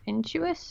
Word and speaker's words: Intuos: because um I got a little Wacom Intuos in Jewish is that how you say it yeah I